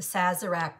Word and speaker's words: Sazerac: i read it the name is called the saz iraq the sazerac cocktail so a little bit of history about